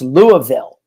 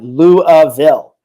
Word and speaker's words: Louisville: It's pronounced Louisville. That's right, Louisville, a place I've actually never been to.